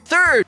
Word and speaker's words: third: Na primeira parte, a gente vai colocar a língua entre os dentes pra dizer third, sendo necessário enrolar a língua na letra R.